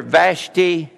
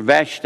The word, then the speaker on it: Vashti: a Jewish you remember vashti or vashti however you want to pronounce her name which was one of